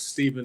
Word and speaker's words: Stephen: Ladies and gentlemen, my name is Stephen. It's spelled S-T-E-P-H-E-N, but it's pronounced with a V.